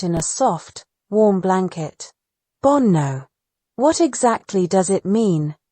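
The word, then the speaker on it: 煩悩: In Buddhism, what you're calling bad instincts are known as bonno. Bonno, with two N's, like bone and no, but the meaning is a lot deeper than bad instincts.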